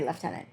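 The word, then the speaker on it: lieutenant: am British and Canadian do we say left tenant in Canada because we do a lot of the the British spelling I don't think we do I don't think we say leftenant we might though Canada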